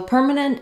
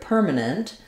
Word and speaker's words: permanent: the word permanent so permanent is a great example of how we use Clear vowels in the stress syllable and reduce vowels in the unstressed syllables what I mean by